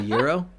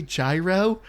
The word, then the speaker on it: gyro: pretentious so she's like do I say gyro and I'm like no it's Euro like that's that's how you pronounce it I also like I